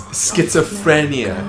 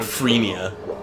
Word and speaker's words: schizophrenia: It's schizophrenia. Frenia, not freenia.